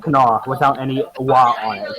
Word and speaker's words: Kanawha: Alright, It's Kaniwa, not Stop. Kanawa. It's actually it's Kanawha. actually Berkshire. Oh my It's Christ. actually East, Brian, it's and actually pronounced Kanawha without any wa on it.